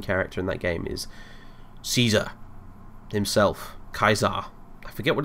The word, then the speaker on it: Caesar: There is no soft C in the Latin alphabet, so the Romans would have called Caesar Kaiser as well.